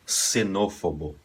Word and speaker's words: xenófobo: aqui um exemplo palavra nesse caso aqui ela soa como uma S também tá seria xenófobo ela pode soar também